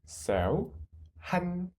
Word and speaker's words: 한국: 하느 한 한 next without the final conent it is구 and with the final con it is like 국 so 국 한국 한국 한국 한국 사랑해요